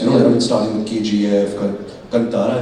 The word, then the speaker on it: Kannada: Yes, I mean, starting with KGF, Kannada, if I can, that's the right way to say it, Kannada.